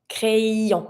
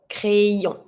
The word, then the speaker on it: crayon: A pencil, un crayon, crayon. And I need to hear the y, crayon.